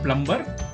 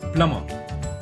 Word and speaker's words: plumber: So it's not plumber, it's plumber.